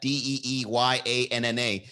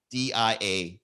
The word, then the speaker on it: Diana: Deeyanna. You spelled it like Diana. Diana. It's not my fault. Don't get mad at me because you didn't spell it the way you want it to be pronounced.